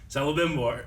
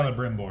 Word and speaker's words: Celebrimbor: Celebrimbor. Celebrimbor. I've always said Kel, I think, or Cel. One Cel. of those. Yeah. Anyway. It looks like it should be pronounced Celebrimbor. Like celebration, right?